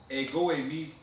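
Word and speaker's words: ἐγώ εἰμι: E o que você precisa saber antes, eu coloquei aqui, é uma frase no grego, mas essa frase no grego se pronuncia egoemi e significa mais ou menos assim, eu sou ou eu mesmo sou, certo?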